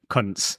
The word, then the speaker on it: Kuntze: No, it's pronounced cunts, isn't it?